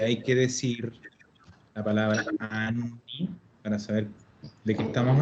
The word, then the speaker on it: anni: Y como siempre, sobre todo con esta palabra, ser súper catete con el tema de pronunciar las dobles. Parte muy importante del italiano es pronunciar correctamente y siempre las dobles consonantes.